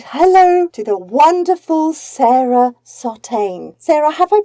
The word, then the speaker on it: Sartagne: hello everybody and hello to the wonderful Sarah sauteing Sarah have I pronounced your surname correctly that's brilliant it's so